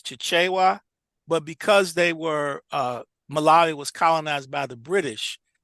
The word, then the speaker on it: Malawi: How you pronounce it again? Malawi, Malawi.